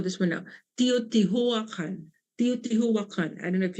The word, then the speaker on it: Teotihuacan: Teotihuacan. Teotihuacan. I don't know if you can pronounce it.